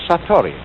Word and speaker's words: satori: In Japanese, in Zen, it is called satori.